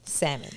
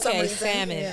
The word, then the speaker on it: salmon: love salmon yeah salmon salmon I saw I said there's a l in there it's a silent L for salmon okay salmon it's not Sal I said salmon it's not I mean